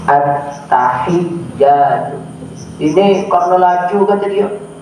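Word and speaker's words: التحيات: Jangan at-tahiyatu, mesti ditekan, ada tasdidnya. At-tahiyatu.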